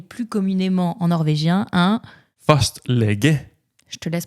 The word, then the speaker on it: fastlege: Fastlege. Je te laisse prononcer parce que entre Ouais.